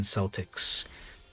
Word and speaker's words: Celtics: the celtics and yes it is spelled exactly the same but it is with the s pronunciation it is the where do they play at the boston yes the boston celtics um so yeah we